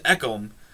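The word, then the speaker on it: Ekholm: can pronounce um matthias eckham i know his name is ekkom it's the first name i'm not i'm not uh confident on matthias eckom i actually think this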